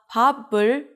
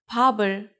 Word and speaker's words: 밥을: 이응 is just the placeholder, so when there's bottom right before 이응, the sound of the bottom moves to the next syllable. Not 밥을, it's 밥을. Altogether, you can say 밥을 먹다.